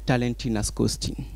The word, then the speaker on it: Talenty Nascoty: Talenty Nascoty. Talenty Nascoty.